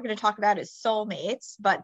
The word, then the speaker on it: Seoulmates: to talk about is soul mates but that's like Soul as in South Korea although am I pronouncing